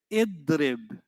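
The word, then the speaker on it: اضرب: Not adrib. You never say a. Your only 2 options for the alif are u or e. And when do you say u? If you find the u right before the ending. And when do you say e? In every other situation.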